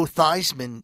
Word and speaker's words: Theismann: a university that that made joe theismann change his name from thiesman in order for it to rhyme with heisman yeah true story joe